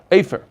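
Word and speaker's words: אפר: Here you have ashes, afer.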